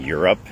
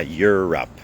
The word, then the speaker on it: Europe: feel like you're in Europe ยูโรป นะ เรา ออก เสียง ว่า Europe Europe Europe Up Europe อ้า โอเค มี คน